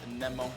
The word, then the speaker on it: Nemo: I think it is the proper way to say it is Nemo.